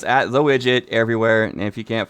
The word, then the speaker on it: Wigit: There's no D in there. I am not an app. Just remember, it's Wigit.